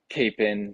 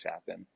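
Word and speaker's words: Capan: for him um so I've gotten Capen sapen uh kappen I've I've gotten all the above so I usually just kind of roll with whatever but the correct pronunciation is is sapin I think we use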